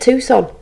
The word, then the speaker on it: Tucson: last year what's happening in Tucson Arizona desert Tucson that's how you say it what he's found